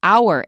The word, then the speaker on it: hour: There are only a very few words from French in which the H is not pronounced. And some are very common like hour in an hour.